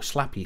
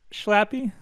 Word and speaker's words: Schlappi: that it's swiss uh so i don't really know how it's pronounced there's more more ease in it i believe probably well the the the swiss are quite similar to the dutch in their pronunciation especially in the sch sounds so if i would pronounce this as a dutchman i would probably say uh sloppy but that's that might